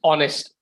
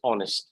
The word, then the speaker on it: honest: pronounce the word as honest h is silent okay so to be honest okay if honest yes h is silent pronunciation is honest so to be honest